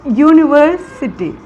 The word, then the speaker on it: university: sound for example a university here university is the word which begins with u u is a vowel but when we pronounce university it sounds like a consonant sound so here we use